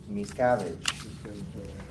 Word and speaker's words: Miscavige: Okay, how you pronounce that one? Miscavige.